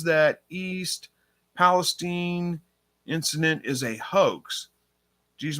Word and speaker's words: Palestine: we at here diversity love says it is pronounced Palestine okay there we go thank you Andy rabbit